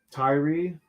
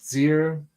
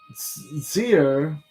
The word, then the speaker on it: Tyre: talents of gold from Tyre, or Tyre's a bad pronunciation. I looked at the Hebrew, and I think it's called Zir. So I can't remember.